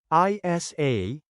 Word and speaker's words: isa: well now let's practice is a is one one in Tagalog change I to the American letter e and a t a